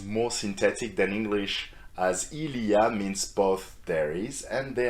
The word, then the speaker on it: il y a: more important in speaking its pronunciation is and you can repeat that after me Ilya very often in familiar context French people say yeah so you completely drop the eel in front right and just say yeah